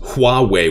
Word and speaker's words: Huawei: i will sharing this so they're actually pronounced huawei with an h i actually watched a